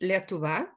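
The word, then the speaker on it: Lietuva: name on lithuania which is in our language pronounced letova is mentioned a thousand years ago more than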